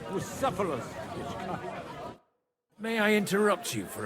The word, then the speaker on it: Bucephalus: What kind of name is Phallus anyway? It's pronounced Bucephalus.